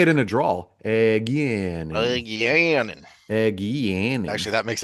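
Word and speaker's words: Egeanin: and yeah, Egianin. Oh no, because there was emphasis on the E and the A. Egianin.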